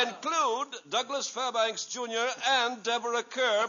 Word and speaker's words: Deborah Kerr: Empire and I include Douglas Fairbanks Jr and Deborah Kerr pronounced Carr you're had a r nice block to say